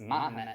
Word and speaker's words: Mahomet: believe Baphomet came from the word Muhammad, the Islamic prophet, which is pronounced Mahomet in French, and then switch out the B.